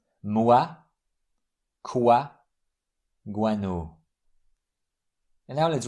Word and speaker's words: moi: O-I-U-A. These diphthongs are pronounced like W-O in the English word one. So the pronunciation here is wa. Moi, quoi, guano.